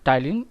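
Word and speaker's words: ptyalin: फिर इसको हम लोग टाइलिन भी बोलते हैं, टाइलिन। स्पेलिंग आप अच्छे से देखिएगा स्टूडेंट्स, में पी साइलेंट होता है, ठीक है।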